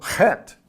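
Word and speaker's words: ח: of generally three ways with a CH a K H or an X and so if you see a a pronunciation guide and it's got either CH k h or x it's the sound like that okay and so het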